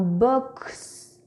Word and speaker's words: box: À votre avis, dans le mot box, quel son fait la lettre X? X, X, S, Z ou X est muet? Oui, c'est ça. X fait le son X dans box.